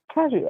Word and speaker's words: Cajou: Because it sounds like cashew. Right. It's not that hard, but okay. Cajou. We've heard Cajou, like literally we've heard all these names. Yeah, Cajou Creamery here.